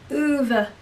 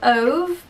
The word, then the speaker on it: Ove: that's A Man Called Ove. Or I say Ove, but I have been told that it's pronounced Ove. I can't do it. I can't do Swedish.